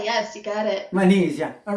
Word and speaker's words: Manizha: It's Now or Never by, and again, I try to pronounce it correctly, Manizha. Manizha, yes, you got it. Manizha, all right.